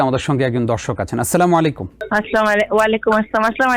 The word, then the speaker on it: আসসালামু আলাইকুম: এড করতে পারেন ওয়াবারাকাতুহ কিন্তু এটাকে সালাম আলাইকুম অথবা সালাম আলাইকুম এভাবে যাচ্ছে তাইভাবে বলাটা ঠিক হবে না এটা আরবি উচ্চারণে গলত এবং এতেফুল মেসেজও মানুষের